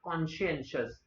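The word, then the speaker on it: conscientious: इसका प्रोनाउंसिएशन ध्यान रखना, कॉन्शियंशियस।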